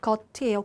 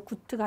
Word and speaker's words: gut: 발음이 겉이에요. 구트가 아니라.